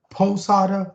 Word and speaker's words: Posada: know cuban at birth so you can pronounce it you can pronounce it like the baseball player posada however you want i'm